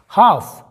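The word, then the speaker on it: half: मतलब होता है शांत हाफ यहां पर भी एफ के पहले एल साइलेंट है हाफ का मतलब होता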